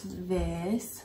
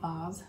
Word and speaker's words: vase: But we did get a little glass vase or vase. How do you say it? Vase. Vase is American.